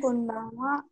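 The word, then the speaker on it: こんばんは: কোনবানওয়া।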